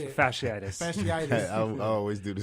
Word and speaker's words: fasciitis: Fasciitis.